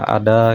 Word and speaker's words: ada: Kalau di Betawi Bekasi ya bacanya dia tetap A. Jadi ada ya dibaca ada gitu.